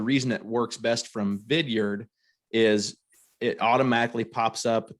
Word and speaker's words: Vidyard: heard of vidyard it's pronounced or the way it's spelled as vidyard v-i-d-y-a-r-d so vidyard is a video platform where